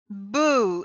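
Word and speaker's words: Bhu: Oh, it's called Boo. It's spelled B-H-U.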